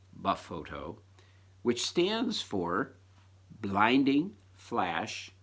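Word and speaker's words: BFOTO: it's called befoe toe the acronym is capital bf OTO low caps pronounced buff photo which stands for blinding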